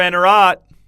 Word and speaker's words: Anerat: to him by name, putting the stress on the final syllable. Mr. Anerat.